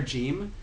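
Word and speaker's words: جيم: letters, but the letter Jim is a good example. It would be pronounced with like a j sound in the Levantine area, like Lebanon, Palestine, Syria, these places, and then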